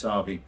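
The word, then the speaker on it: Tappee: I know it looks like it's tappy, but it's Manx Gaelic, so it means fast, and it's pronounced Tarvey. We gave the public the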